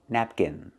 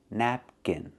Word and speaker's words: napkin: It's pronounced napkin, napkin. Put the stress on the first syllable, nap, and the second syllable is kin, kin.